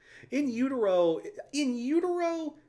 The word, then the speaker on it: In Utero: In Utero.